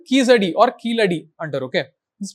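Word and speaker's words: Keeladi: There is a site called Kizadi or Kiladi under, okay. This is pronounced as Kiladi.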